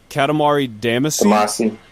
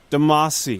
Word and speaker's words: Katamari Damacy: this name where I'll I always say this name wrong according to different people I talk to Katamari Damacy reroll Demasi yeah Katamari Damacy my silly Western accent Katamari Damacy reroll the